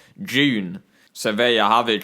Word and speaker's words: Dune: a film that's called dunes or june uh people calling it dune um that are english but you shouldn't be calling it dune if you're from england because it's actually pronounced june so there you have